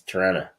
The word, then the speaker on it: Toronto: that are going they they have this problem pronunci pronunciating the letter T. So for them it's Tana. Really? Yep. Oh wow. That's so what can I say? Must must be a Canadian thing. Uh it's a it's a Toronto thing. Mhm. That's it. Because you get one T even though there's two in the word.